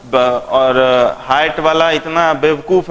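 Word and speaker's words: Hyatt: कहां तुम हयात में चल गए भाई? हयात नहीं है, it's height. Try to learn the pronunciation.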